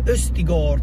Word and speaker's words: Østigård: per il genoa stiamo parlando di leo scheri questi gol così è la pronuncia originale prima però di andare non c'e